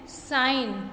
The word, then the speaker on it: sign: Next SIGN, साइन. यहाँ पर G साइलेंट है, नो में K साइलेंट है.